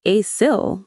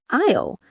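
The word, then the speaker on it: aisle: People always think it's pronounced asil, but it's not. It sounds like isle, just like the word isle, the island.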